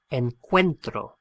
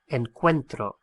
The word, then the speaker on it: encuentro: an irregular verb and the stress of the pronunciation on that first o splits the o into a u and an e and we end up